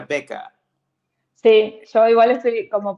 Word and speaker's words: Väcka: otra manera mejor en en sueco es beca se pronuncia beca sí Yo igual estoy como practicando para decirlo porque tengo que decirlo bien pero me sale vaca pero s es beca